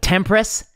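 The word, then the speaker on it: TMPRSS2: things that often um like tempress which apparently is how you pronounce tmp ssr 2 or whatever that receptor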